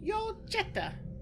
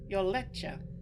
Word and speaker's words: Yoletcha: My name is Yoljetta. Actually, it's Yoletcha.